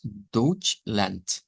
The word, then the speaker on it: Deutschland: De hecho, el nombre en alemán de Alemania es Deutschland, Deutschland, pero se escribe con D, se pronuncia con una letra T.